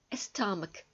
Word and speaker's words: stomach: CH. В английском языке в большинстве случаев читается Ч. Но есть исключения. Например, школа, school. Stomach, живот.